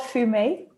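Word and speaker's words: Fumé: It's called Fume. Fume. Yeah. Which is spelled F-U-M-E with the little thing on top and then regular E.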